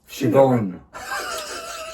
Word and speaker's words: Siobhan: Like you said, it was the first cinema film and breakthrough role of Siobhan. Siobhan. She should spell it properly then.